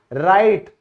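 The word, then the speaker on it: write: लिखना, राइट, R से पहले आया, साइलेंट हो गया।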